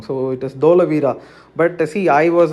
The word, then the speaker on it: Dholavira: that you are saying wrong so it is dholavira but see i was right in answer is